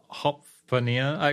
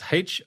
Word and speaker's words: Hofvarpnir: Why on earth is this thing called Hofvarpnir? Okay, so I should spell it out, I guess, for people who want to Google it. It's Hofvarpnir.